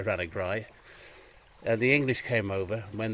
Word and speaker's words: Ranagri: So Ranagri has been anglicised as Rathnagru, which is fort of the hare in Gaelic. A Ra and a Guria being a hare. And over time, the locals would say Ranagri.